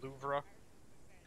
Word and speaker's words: Louvre: It's pronounced Louvre.